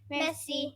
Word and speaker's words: Merci: Merci.